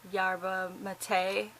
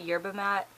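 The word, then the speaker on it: yerba mate: too I'm drinking my I know it's pronounced like yabba Mattei I don't know I call it year but Matt I know that's not how it's pronounced but that's how I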